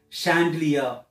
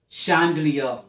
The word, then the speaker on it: chandelier: solomon be chandelier and Teru but the real pronunciation is chandelier chandelier if you could have see it so start